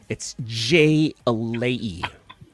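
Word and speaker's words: jai alai: Monch Hi, said hi. He's tripping. It's J-alai. J-alai.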